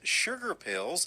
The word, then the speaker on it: Shugar Pills: He performs and records as Sugar Pills.